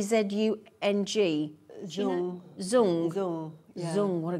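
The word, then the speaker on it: Dzung: How do you pronounce that name, Greater London? D Z U N G.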